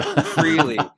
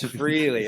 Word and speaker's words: Freligh: So, Freely Freely. Okay, everyone's going to know your name. It the it's spelled F R E L I G H.